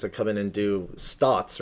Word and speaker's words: SNOT: come in and do stots, right? It's pronounced like stots, which is like studs on the side.